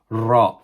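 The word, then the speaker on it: راء: tongue is moving while we are pronouncing it ra ra and is similar to the D in shape but instead of having like an angle it's like a quarter of a circle okay ra and it's how it is joined is exactly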